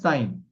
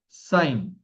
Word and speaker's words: sine: So this is the first function is called as sine. How do we pronounce it? It's called as sine. So in short, it is written as sin. So don't read it as sin or else you will be committing one.